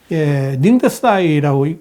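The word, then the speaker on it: 宁德时代: 세계 최대 전기 자동차 배터리 제조업체인 중국의 CATL, 닝더스다이라고 읽습니다만, 이 CATL 역시 자원 무기화에 앞장설 가능성이 있는 회사입니다.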